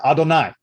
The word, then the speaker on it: Adonai: uh in verse 22 which is usually pronounced by the the word adonai uh we do not